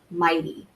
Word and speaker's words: mighty: well and then also the gh like in the word highest or fighter or mighty right you don't hear the G um and that makes